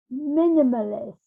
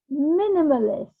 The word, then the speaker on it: minimalist: And minimalist. Minimalist. Minimalist. Minimalist. Minimalist. Minimalist. Accent on the first syllable, as so often is the case.